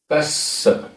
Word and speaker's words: कस्स: कस्स, आधा सा पूरा सा, कस्स, कस्स, वी, वी, दुट्ठ,